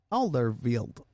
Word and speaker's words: Alderweireld: Alderweireld. There you go. Wow, There we go. impressive.